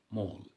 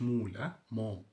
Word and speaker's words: mall: town مركز تسوق shopping mall ال a بعدها ال ال بنطق او برضو فقولي mall مش مول mall محطة station ميدان square يعني ميدان التحرير مثلا نقول ايه تحرير square.